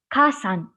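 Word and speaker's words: 火山: before this right before this kanji it becomes kasan this the pronunciation switches from yama to sun it becomes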